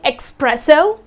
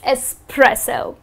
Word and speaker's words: espresso: They end up saying espresso. That's incorrect. The correct pronunciation of this type of coffee is espresso.